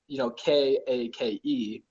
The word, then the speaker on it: Kake: it says Chadkake, and that's like the phonetic pronunciation. If you just like said it how you saw it, kind of thing in English, Kake, that's Chad in Hawaiian.